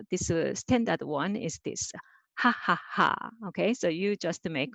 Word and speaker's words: 하하하: So ha ha ha ha ha. So let's do. So this is easy, right? So hu plus a and repeat two more time. Ha, ha, ha, ha, ha, ha.